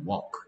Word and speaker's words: walk: walk. L이 소리가 안 나. 오케이. 얘는 요까지 읽으면 talk. talk. walk. L이 소리 안 나는 이런 애들 유명히 있어.